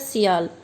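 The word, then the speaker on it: SiAl: जब इन दोनों को मिला के एक स्पेलिंग लिखी जाती है तो उसको बोला जाता है सियाल, इसीलिए इसको सियाल भी बोला जाता है।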